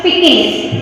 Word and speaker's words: Pekingese: The pronunciation I am going to write it for you. You just remember. Pekingese. It should be pronounced like that, but the spelling is there in your book. So it should be pronounced like Pekingese.